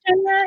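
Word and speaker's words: Genya: Is it Correct. pronounced Jenya? Yeah. I had to look that up. That one's Jenya.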